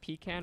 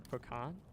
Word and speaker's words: pecan: It's just like pecan or pecan. Like I pronounce that both ways too.